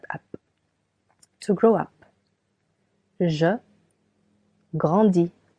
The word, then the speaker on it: grandis: Je grandis. S. Je grandis. Tu grandis. I tu grandis. Again, letter S is silent for both.